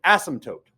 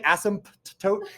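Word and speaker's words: asymptote: tote you pronounce it ASM toote but guess where the silent p goes oh all right that randomly I don't know why it's there don't say ASM tote it just you it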